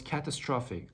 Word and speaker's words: catastrophic: okay second word was catastrophic i am assuming that you had hard time pronouncing the the last part of the word which is phic catastrophic basically it means